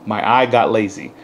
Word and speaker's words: My I Got Lazy: I got lazy Zine yes it's pronounced my eye got lazy uh really cool phrase